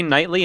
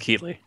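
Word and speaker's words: Keighley: start off with Jeff keatley is that how you say his name I think it's keatley yeah I think you're right ex I used to say nightly and then people like no it's keatley or key oh like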